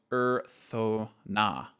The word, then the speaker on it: Urthona: Pronounced Urthona, the god of creativity.